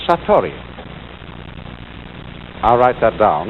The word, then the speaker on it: Satori: is in Japanese in then it is called Satori I'll write that down it's an unfamiliar word